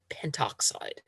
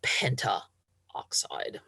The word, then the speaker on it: pentoxide: N2O5, dinitrogen pentoxide. Again, they are deleting one of the vowels to make it a little smoother to pronounce, instead of calling it pentaoxide.